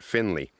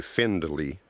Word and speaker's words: Findley: after and you notice it was spelt with a d f-i-n-d but everybody pronounces it finley they don't say findley gonna show you the